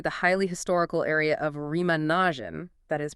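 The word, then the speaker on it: Remagen: And it is very close to the highly historical area of Remanagin, that is pronounced Remanan.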